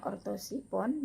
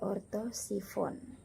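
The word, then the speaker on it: Orthosiphon: Nah, contohnya ortosipon dibaca bukan ortosipon tetapi ortosifon.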